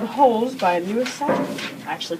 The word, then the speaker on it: Sachar: So the book I am book talking is called Holes by Sachar. I actually pronounced that right.